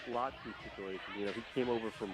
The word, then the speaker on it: Latu: Latu, is that how you pronounce it? Leatu Latu.